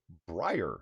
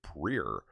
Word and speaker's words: Brer: says it's pronounced a briar not a prayer well I can't do the southern accent to get from brother properly and yeah it's like briar as in briar patch but the briar patch